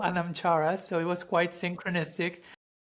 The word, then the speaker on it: anamchara: connection I'm I'm thinking your website is called anamchara if I'm pronouncing it correctly which in Celtic wisdom refers refers to a a soul friend, right?